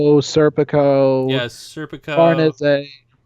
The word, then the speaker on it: Farnese: Farnese. Yeah, that's how you're actually supposed to pronounce her name. I know. I want to say Farnese, but it's Farnese.